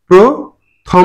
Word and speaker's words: প্রথম: এবার আসি প্রথম নাকি প্রথম নাকি প্রথম কোন শব্দের আদিতে যদি রফলা যুক্ত থাকে এবং তার সাথে কোন কার চিহ্ন না থাকে তাহলে এই রফলাটা থাকবে তার সাথে যুক্ত হবে ওকার প্রহবে প্র ওকার হবে প্রথম না হবে কি থম প্রথম এখানে দুটো অক্ষর আছে